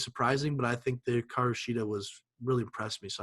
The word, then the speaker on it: Hikaru Shida: So Hikaru Shida, am I pronouncing that right? Okay, Hikaru Shida, yep. Hikaru Shida versus Nyla Rose.